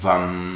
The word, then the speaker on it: Vam: i la seva vibració s'escriu B baixa, A-M, i es pronuncia VAM, i el repetiràs 3